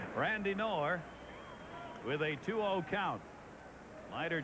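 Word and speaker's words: Knorr: for this 29 year old veteran catcher k-n-o-r-r kenor Steve Berger is that the pronunciation on his name now okay in I think that's correct that's correct yes kenor well like Ralph said yesterday is Bobby canop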